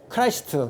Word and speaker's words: Christ: ION 패션 오브 크라이스트 CHRIST 예수 크라이스트 그리스도가 아니고 그 발음은 원래는 크라이스트예요.